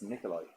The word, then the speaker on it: Nikolaj: I think Billy said it's Nikolai. Maybe it is. Because that makes sense now. Yeah, okay, I Nikolai noticed Coster-Waldau. Yeah. Okay, fair enough. It's pronounced Nikolai.